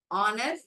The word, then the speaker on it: honor: knit, honor, H is silent.